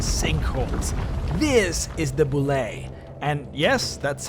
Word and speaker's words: Bulette: earthquakes landslides and sink holes this is the Boule and yes that's how it's pronounced I was also shocked here is the